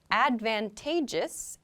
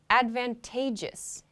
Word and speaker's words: advantageous: kind of interesting because the pronunciation changes a little bit we have the noun advantage advantage when we pronounce this adjective though we say advantageous advantageous so the emphasis